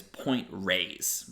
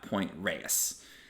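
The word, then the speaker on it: Point Reyes: re ye s and the correct way to pronounce that is point Rays like rays of sun it's not Point Reus very common Miss pronunciation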